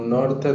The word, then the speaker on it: norte: E aqui temos uma T, então a pronúncia vai ser Ti, norte.